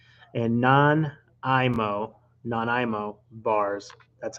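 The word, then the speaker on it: Nanaimo: And non-IMO bars. That's how you pronounce it.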